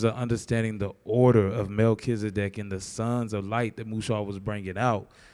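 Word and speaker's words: מלכי־צדק: In Hebrew, it's Melchizedek. Which is Melchi is king, Sedek is righteous.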